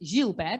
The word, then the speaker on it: Gilbert: uh abnormality it's called gilbert syndrome or i should correctly pronounce it jill bear because he was a frenchman and what he noticed